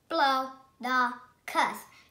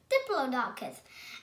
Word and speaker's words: Diplodocus: I'm going to tell you how to pronounce it. Diplodocus. Diplodocus.